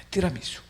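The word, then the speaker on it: tiramisù: 티라미수 . 이것 이 원래 발음 입니다 . 왜 ? 이탈리아 케이크이기 때문 입니다 .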